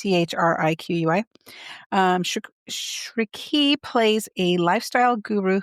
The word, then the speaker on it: Chriqui: Oh, I looked up how to pronounce this. Shriki, I think. Mm-hmm. It's Chriqui.